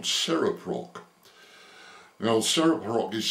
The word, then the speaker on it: CereProc: suggested I make contact with a company called Seraprock. Now Saprock is spelled uh C E R E P R O C. C E R E P R O C. and Saraprock have developed a remarkable texttospech software facility that